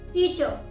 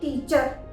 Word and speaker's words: teacher: अगर कोई word are से एंड हो रहा है, रिमेंबर आर से एंड हो रहा है, तो उस समय भी हम आर को प्रोनाउंस नहीं करते। जैसे TEACHER, टीचर, ना कि टीचर, टीचर। FATHER, फादर। हम फादर नहीं बोलते हैं, र नहीं लगाते हैं एंड में, हम बोलते हैं फादर, फादर।